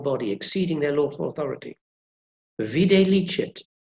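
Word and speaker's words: videlicet: Vide licet, usually written as V-I-Z, means already seen. We've already seen this before in the contract. Viz, vide licet. Well, at least I think that's how they're pronounced, because nobody really knows.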